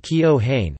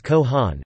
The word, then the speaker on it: Keohane: While the most common pronunciation is Keohane, following the name's phonetics, the correct pronunciation is Keohane, incorporating a silent e and a hard a.